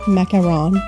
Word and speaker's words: macaron: a few things straight this is a mackerel or you could pronounce it macaron in english this is a macaroon